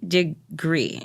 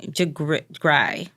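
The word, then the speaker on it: DeGruy: girl is Dr Joy de gree de gry it might be gry it's d e g r u y now how you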